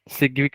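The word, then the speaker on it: Sidgwick: सर सेड्यू की spelling क्या है? SIGWICKS, सिग्विक, सिग्विक बोलते हैं, सिग्विक रूल, है ना।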